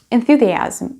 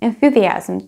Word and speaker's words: enthusiasm: on the other hand enthusiasm is a very difficult word to pronounce because of the th sound that you have right in the middle and some people tend to say twice the sound th which is quite impossible to pronounce just compare and you